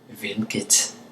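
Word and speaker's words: hvilket: will be V or vit okay it's up to you whether or not you pronounce the T my example is going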